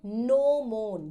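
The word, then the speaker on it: gnomon: इस पीस को कहते हैं नो मोन। जी इज़ साइलेंट।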